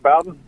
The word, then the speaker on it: Bowden: mention bobby bowden am i saying it right bowden bowden yeah you said bowdoin or something i think bobby brown at least